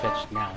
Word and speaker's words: KnifeEdge Now: KnifeEdge now.